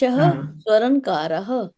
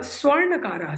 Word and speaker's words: स्वर्णकार: पढ़िए प्रश्न एशः एश स्वरण कार एक मिनट रुकिएगा आपने थोड़ी अपने उच्चारण को सुधारिए। आपने कहा प्रश्न प्रश्न नहीं है प्रश्न। ठीक है? और स्वर्णकारा सवर्णकारा नहीं स्वर्णकारा। ठीक है?